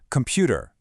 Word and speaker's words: computer: How about computer? Clap on pew.